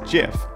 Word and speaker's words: GIF: pronunciations they are wrong it is a soft g pronounced jif end of story however